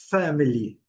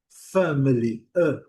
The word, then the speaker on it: family: Então, qual que seria a pronúncia da palavra family? Family.